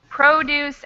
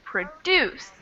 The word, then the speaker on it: produce: stress yeah the stress the stress is different so in the adjective form we have the stress on the first syllable and in the verb form stress on the second syllable produce and produce and this is a